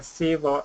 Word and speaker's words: civil: many times so um it's a very strong first Syble civil Civ c c it's a keep a short I but it's got to be strong s s sit down